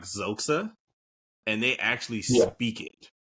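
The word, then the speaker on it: Xhosa: You can't necessarily pronounce it specifically because it has the X is essentially a click, but it's like Zoxa, and they actually speak it in the movies.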